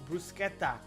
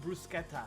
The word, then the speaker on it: bruschetta: It's brusqueta. It's pronounced brusqueta.